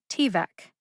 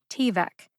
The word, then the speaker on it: T-VEC: a nickname which is t-vec t like the letter t and vec which rhymes with neck t-vec put the emphasis on